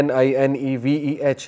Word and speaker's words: Nineveh: نینوا اس کا تلفظ ہے NINEVEH.